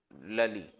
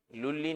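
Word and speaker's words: Lally: the defeat of France लली लुली नहीं लली तो नाम ही ऐसे आप लोग प्रोनाउंस करते लली एंड बुसी ठीक है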